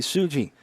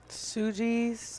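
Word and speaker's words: Sugi: on tsuji Suki s-u-g-i sujis I hope I'm pronouncing that right makes me think of Sookie so I'd say yeah suji yeah that one's going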